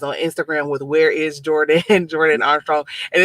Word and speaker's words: Jor'dan: jordan but i think people uh sometimes don't know how to pronounce it but um it's actually jordan and my mom actually